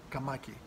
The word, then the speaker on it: καμάκι: here's a good one i have the accent is the second the second syllable kamaki um you know if